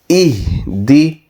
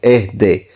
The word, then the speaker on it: اهد: or sometimes even nowadays, people pronounce this as ehde. So ehde is the old type, or not quite the correct one. So the fine tuning requires this to be read as ihdi nasiratal.